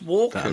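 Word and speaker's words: Walken: actor yeah yeah yeah I've never heard anyone pronounce the L walking walking I always thought it was just walking like like Christopher walk walk you don't you know you don't say the The Ellen walk you don't say I'm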